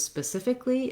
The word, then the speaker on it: specifically: i can say specific all i need to make the words specifically is to add a little extra syllable li at the end that this l y says what i often hear and the pattern that is useful with this word is to realize that often uh the suffix a-l-l-y those letters don't actually say ali but rather just li so thinking about it rather than specifically it's specifically so spelling